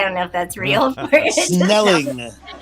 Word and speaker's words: Snelling: Snelling. Oh, not Snelly? Okay. Oh, then No, I believe not you. Snelly. Rhymes with smelly. No. If it ends in ing, it's got to be true.